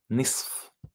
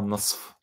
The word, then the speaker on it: نصف: نصف. I mean, I'm not a native Arabic speaker, but I know نصف. In fact, Arabs usually, they don't even pronounce the F half the time in colloquial Arabic.